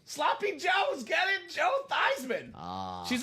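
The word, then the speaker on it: Theismann: University of Notre Dame PR staff said, "Hey, Joe Theman, let's change the pronunciation of your last name from Theman to Thyman so it could be Thyman for the Heisman."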